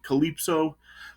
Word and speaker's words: Calypso: named Hespera and Calypso, is that how it's pronounced? Yeah, Calypso.